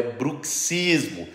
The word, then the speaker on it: bruxismo: pessoa que sofre de bruxismo costuma fazer o quê essa é uma pergunta fácil três feitiçaria grande cels Portioli a pronúncia está errada o certo é bruxismo e eu sei muitos